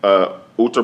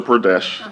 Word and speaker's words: Uttar Pradesh: So you were in Uttar Pradesh.